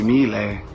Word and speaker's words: mille: forma con issimo grazie 1000 1000 1000 con la elle lunga stiamo arrivando prometto ti